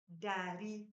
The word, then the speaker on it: ndari: And numbers in Kikuyu is dari, dari, dari. If you have watched our previous videos, you've noticed that dari has N, but the N is silent.